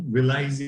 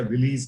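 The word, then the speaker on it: villi: Finger like projections दिखेंगे, जिसको हम विलाइज या विलीज कह सकते हैं, जैसे भी प्रोनाउंस कीजिए।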